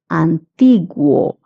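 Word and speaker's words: antiguo: Antigu. Guo is pronounced as gu.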